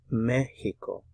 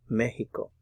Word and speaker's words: México: And remember to put the stress on the first syllable here. You see the accent mark there. México. México.